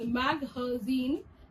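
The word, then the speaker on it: مخازن: Magazine is another word derived from the Arabic language, which is pronounced as maghazin, and it means a publication or a storage place.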